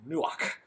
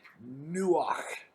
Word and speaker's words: nuach: know pronunciation in english it's a hard ch almost a k sound where we almost spit that word out you know like from the back of the throat nuach so just don't look